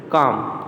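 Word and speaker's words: calm: Then काम, तो यहाँ पे एल जो वर्ड है वो साइलेंट है।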